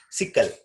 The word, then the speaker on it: sickle: We can call it as sickle. Understand? Sickle actually. So we should not even pronounce E.